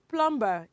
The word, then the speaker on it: plumber: It is not plumber. It is what? Plumber. It is what, children? It is plumber, because the letter B that comes after letter M is silent.